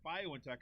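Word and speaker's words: BioNTech: and its german partner violin tech i guess is how you say it bio in tech announced at the initial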